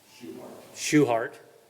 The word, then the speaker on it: Schuhart: Schuhart. If you seen how this is spelled, I don't know that you would have assumed that was the pronunciation.